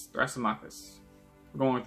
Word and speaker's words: Thrasymachus: And that man is, I'm gonna butcher his name, Thrasymachus. We're going with Thrasymachus.